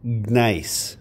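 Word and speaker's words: gneiss: arrow and then now it has a silent g in it maybe you can hear it if i make it not silent nice can you hear that silent g g g-n-e-i-s-s okay so granite which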